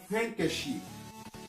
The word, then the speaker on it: handkerchief: On ne prononce pas le D. Handkerchief.